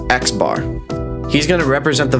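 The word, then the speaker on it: x̄: This guy is pronounced xbar.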